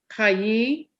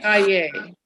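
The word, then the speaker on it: חַיֵּי: Chayi Olam. That one I So if you want to keep along to this temple, you should pronounce that first word a little bit better. Chaye.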